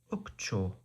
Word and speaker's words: ukcho: Sometimes is ukcho. Ukcho. With a stress on the final syllable.